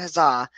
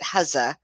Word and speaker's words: Huzza: the guys over at huzzah about the or I'm sorry they pronounce it haza anyway I've I've been